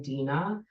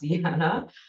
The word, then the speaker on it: Dina: I'm Dina, pronounced Dina, not Deanna.